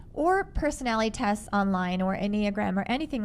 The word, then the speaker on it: Enneagram: And one of the tools she uses with her employees is called the, I think I'm going to say it right, Enneagram. Enneagram.